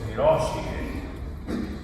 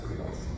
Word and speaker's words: Hiroshige: artist, his name was Hiroshige. Some people say Hiroshige, but please, guys, it's Hiroshige. Japanese is typically say Spanish, the accent's on the third syllable in the end.